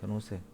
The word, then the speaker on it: 연호색: 현오색. 우리 교재로는 110페이지 되겠습니다. 110페이지. 자, 연호색이라고 쓰고 현오색이라고 읽습니다. 웃기죠? 저 글자는 연대할 때 연자 아닙니까? 예? 호자는 오랑캐 호자고 연호색입니다. 근데 사람들이 읽기는 방금 저같이 현호색이라고 읽습니다.